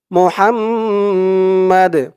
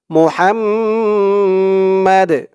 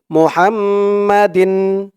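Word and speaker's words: محمد: এখানে থামলে উচ্চারণটা হবে মোহাম্মদ আর যদি আপনারা এখানে না থামেন পরের শব্দ ধরে পড়েন তাহলে এখানে উচ্চারণ করতে হবে মোহাম্মাদিন মোহাম্মদিন দিন বলতে হবে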